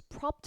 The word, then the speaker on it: propped: 그리고 발음할 때 얘도 P는 성대가 울리지 않기 때문에 뒤에 ED가 T로 발음이 되면서 소리 붙으면 어떻게 propped against 이렇게 들리는 경우가 많죠. propped against.